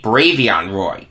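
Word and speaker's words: Bravvion Roy: who he was Brad beyond ROI excuse me brave young Roy it's spelled bravi on but it's pronounced brave young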